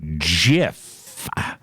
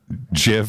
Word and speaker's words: GIF: I've always gone gif gif but leo says jiff so what is it I'm gonna see in